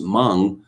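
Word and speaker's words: Meng: is completely nuts that it's spelt m-e-n-g but it's supposed to be pronounced hmong why you came up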